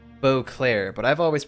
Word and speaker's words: Beauclair: blure or SS and it is here at bu Clair's Port that this wine begins its Journey both